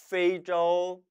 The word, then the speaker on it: 非洲: 페이저우, 페이저우. 왜 페이저우일까요? 아프리카는 아닌가요? 아닐 삐자예요? 그게 아닌 거죠. 아프리카, 아프리카. 이 발음 때문에 페이를 가져왔다는 얘기입니다.